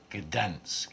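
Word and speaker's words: Gdańsk: Gdansk, it's pronounced.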